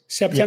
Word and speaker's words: Septemics: You call it sematics? Is that how you say it? Septemics.